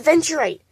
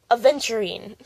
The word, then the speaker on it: aventurine: Not aventurite, aventurine. Here's more aventurine, but it's backwards because flipping of the camera. Here's aventurine. Yeah, that's how you say it, aventurine.